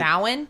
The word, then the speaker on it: Samhain: Samhain?